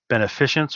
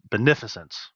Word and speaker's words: beneficence: Beneficience or beneficence? Beneficence.